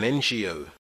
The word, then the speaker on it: NGO: An NGO. Ngo is pronounced with an e sound.